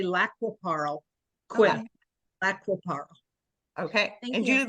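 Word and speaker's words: Lac qui Parle: everywhere that uh you know there are local pronunciations but here they say laap Paro qu laap Paro okay and jul lives next to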